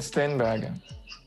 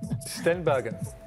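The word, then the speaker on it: Steenbergen: our own country maggot steinberg say that again second steinberg i tried to pronounce it the english way but sorry stenbergen there you go yep what does stem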